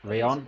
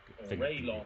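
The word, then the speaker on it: Rallon: Rayon, yeah, it's the Rayon, yeah. My God, it's Raylon, if you don't want to do the Spanish pronunciation.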